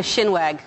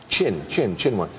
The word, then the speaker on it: chinwag: A shinwag. You shinwag. No? No. It's actually a verb, and it means to chat. It, literally to wag your chin. It's actually very literal. It's not really... Shinwag. Chinwag.